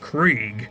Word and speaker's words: Kregg: General Kregg, who I've learned is pronounced Krieg, like Blitzkrieg if you will, is absolutely brutal.